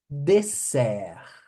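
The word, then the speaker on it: dessert: a sobremesa e deser deser tem dois s Se vocês falarem deser deser com é com som de z com s só deser deserto é deserto deserto do Saara Deserto do Atacama pelo amor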